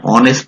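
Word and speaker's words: honest: যেমন হি ইজ এন অনেস্ট ম্যান এই এইচ এটা হচ্ছে অনুচ্চারিত আছে সেজন্য তা করবে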